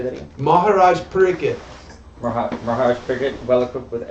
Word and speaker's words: Pariksit: Maharaj Pariksit.